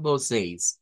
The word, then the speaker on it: vocês: Podemos usar la pronunciación con la J o con la I en este caso. Entonces, para esa E con el diacrítico, con el circunflejo. Esta sería la pronunciación con la I, vea que se nos hace más sencillo a nosotros. Recordemos que puede ser vocear con esa J o bien vocês, que es más común en Brasil.